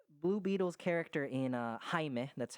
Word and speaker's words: Jaime: yeah um but blue beetle's character in uh jaime that's how you it's pronounced it's spelled jaime but it's pronounced jaime he he is a uh he is a